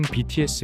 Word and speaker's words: 뷔: 유명합니다 1995년 생인 그는 bts 의 서브보컬 입니다 그의 예명은 라틴 문자 부위 이지만 부위가 아니라 b 라고 발음합니다 파이브 의 수장 방시혁이